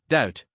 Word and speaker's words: doubt: doubt Just like that, the B is silent. We say doubt.